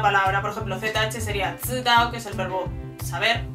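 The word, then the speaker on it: 知道: un poco mejor lo que es con la pronunciación de una palabra. Por ejemplo, ZH sería zidao, que es el verbo saber, o sea, de conocimiento, yo sé algo.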